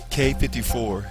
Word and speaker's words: Quai 54: How in the hell do you pronounce QUAI 54? K54 is a World Street Ball Championship tournament.